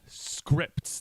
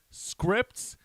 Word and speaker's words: Scrypts: go by the handler name Scripts, that is spelled SCRYPTS.